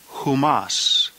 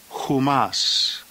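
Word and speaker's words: ὑμᾶς: The plural genitive is pronounced humon, humon. The plural dative, humin, humin. And the plural accusative, humas, humas.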